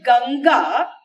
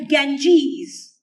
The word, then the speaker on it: Ganga: then those fellows who cannot even pronounce the word ganga properly and they call it the Ganges and the Himalayas they